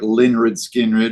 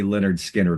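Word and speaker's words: Lynyrd Skynyrd: You know, mispronouncing of words like, say, like Linrid Skinrid.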